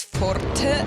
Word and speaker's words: forte: I mean, it's a Latin or Italian word. I'm just going to pronounce it in Italian way. So then it's forte, and then we go to the next chorus to build forte even more.